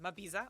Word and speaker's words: Mabiza: Okay, because Mabiza or Mabiza? Mabiza. Because I pronounce it in Ndebele way. I'm Ndebele.